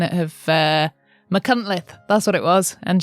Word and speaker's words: Machynlleth: Thanks to Beth, who is one of our Welsh patrons, who corrected me on my pronunciation of Machynlleth, that's what it was.